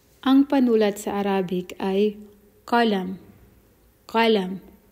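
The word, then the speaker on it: قلم: Sa formal na Arabic or formal Arabic, ginagamit nila ay qalam. Sa Saudi dialect naman, pinopronounce nila ito ng galam. Imbis na ka, ga. Sa Arabic Fusha or formal Arabic ay ka, qalam. Sa Saudi dialect ay galam.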